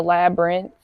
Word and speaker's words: labyrinth: It's like the labyrinth, but just the Brent. The ending of the word labyrinth.